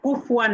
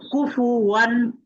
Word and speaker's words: كفوا: كفوا أحد শিফা কুফুয়ান না, বলো কুফুওয়ান। كفوا কুফু বলো কুফু كفوا কুফুওয়ান আহাদ।